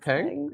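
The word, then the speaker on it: XPeng: Brian Goo, vice chairman and president of um how do you pronounce it? Xpang Xpang.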